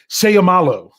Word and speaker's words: Seumalo: But Isaac Seumalo is the way I'm going to say it.